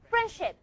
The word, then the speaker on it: friendship: You're going to drop a D. So, you're going to pronounce it as friendship. Look at the transcription. Friendship.